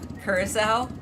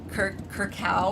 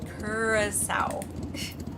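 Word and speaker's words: Curaçao: carousel, which mind you, it took me forever to learn how to say that properly, Kurissau. I think I used to pronounce it uh kcow or something. And my friend kept making fun of me. She's like, "No, no, no. It it's Kurasau.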